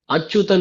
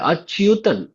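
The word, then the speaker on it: அச்யுதன்: ஆனா சம்ஸ்கிருதத்துல இதை உச்சரிக்கும் பொழுது ஜாகிரதையா உச்சரிக்கணும். அச்சுதன் கிடையாது, அச்சுதன். யகாரம் அங்க நடுவுல வந்திருக்கிறது.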